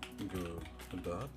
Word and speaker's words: Godot: and call this Good godo is uh spelled like Godot let me I'm going